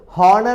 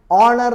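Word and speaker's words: honour: order ഓർഡറിന് order okay an ഓണർ എച്ച് ആണ് ഇത് ഹോണർ എന്നല്ല പറയുക ഓണർ എന്നാ പറയുക ഓ ഓ ഓ എച്ച് അതുകൊണ്ടാണ് ആൻ ഓണർ ഓക്കേ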